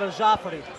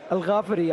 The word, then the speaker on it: El Ghaffari: the experience is definitely in the hands of a jafi or should I say AG Gaff because he got a bit upset of me yesterday that I said a jafi it's actually pronounced a ga Al gafi I think yeah well you can tell that